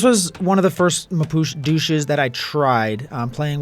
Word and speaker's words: Mapuche: Welcome to the age of the Mapuche Douche. I know it's pronounced Mapuche, but sometimes you just gotta rhyme.